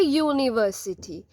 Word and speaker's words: university: Since U is pronounced as Y-O-O, Y is at the first letter. Y is the first letter, not U. Okay, pronunciation is Y. So we are writing a university, a user.